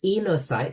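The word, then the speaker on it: oenocytes: And so these enocytes, so the O in the front is silent, these enocytes are perhaps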